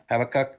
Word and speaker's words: Habakkuk: Habakkuk.